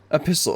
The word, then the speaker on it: epistle: Epistle. Okay, there's no T is silent.